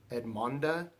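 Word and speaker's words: Edmonda: pronounced your name right I was calling you but your name is Ed Monda and I met you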